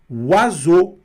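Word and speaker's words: oiseau: Azo.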